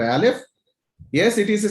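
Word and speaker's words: א: other one is in alif is a silent letter okay but it makes a sound when there is a vowel attached to it okay so uh we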